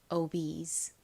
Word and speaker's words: obese: 이 단어에서는 ESE가 is 소리로 쓰였어요. 읽어보면 가장 앞에 O는 O 소리가 나고 B는 비읍 소리, ESE는 is 소리가 나서 obes와 같이 발음됩니다. obese.